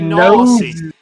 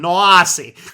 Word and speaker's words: nosy: It is supposed to be nosy. You mean nosy, not nosy. It's the Midwestern pronunciation, noisy.